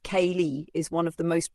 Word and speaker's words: Kali: Kali, pronounced Kali, is one of the most profound and fearsome goddesses of Hindu tradition.